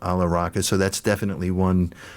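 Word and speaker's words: Alla Rakha: But is it Ravi Shankar and Ala Raka? Beautiful. Nice.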